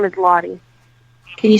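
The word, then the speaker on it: Lottie: name Josie or something else first name is lah can you spell it for me l o TT i e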